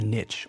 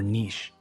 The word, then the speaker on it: niche: The first expression is to carve out a niche or niche. Both pronunciations are acceptable.